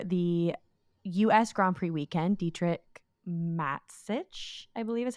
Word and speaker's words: Dietrich Mateschitz: Grand Prix weekend, Dietrich Mateschitz, I believe is how you say his last name.